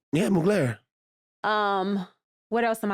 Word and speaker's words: Mugler: I'm loving Mugler. Okay. Did I pronounce it right? Yeah, Mugler.